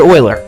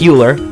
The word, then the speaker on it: Euler: greek letter pi this man's name was leonard euler yes i know it looks like euler but it's pronounced as euler you might have heard of him he didn't